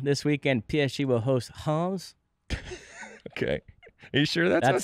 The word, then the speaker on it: Reims: In Ligue this weekend, PSG will host Reims. Okay. Are you sure that's how you pronounce it?